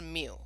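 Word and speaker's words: μ: parameter it's that that mu symbol so it's pronounced mu but it looks like that thing on the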